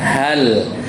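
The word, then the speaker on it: هل: ke-15 Allah Taala berfirman hal nah ketika lam sukun itu dibacanya itu tidak qqalah jadi tadi beberapa banyak baca hale hale itu kurang Tepat Jadi yang benar hal jadi karena lam itu bukan qalqala kalau hal ataka hal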